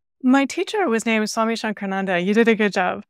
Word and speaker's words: Shankarananda: My teacher was named Swami Shankarananda. You did a good job pronouncing it.